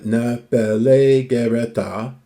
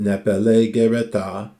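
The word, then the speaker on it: νεφεληγερέτα: delightful manner so uh na pelleta excuse me i missed a syllable but nepellae gereta is masculine nominative um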